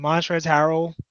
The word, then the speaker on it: Montrezl Harrell: and Lou Williams in montrezl harrell the L is silent they just like they